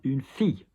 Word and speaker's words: fille: Double L is a pain in the ass because, for example, a town, une ville, which is how it should be pronounced. But, for example, a girl, a daughter, une fille.